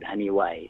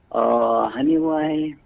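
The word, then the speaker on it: Janiuay: small barrio of Iloilo called Haniway. Remember? Haniway. Let me spell it to you again. It's Janiway. Yeah, Haniway. Mm-hmm.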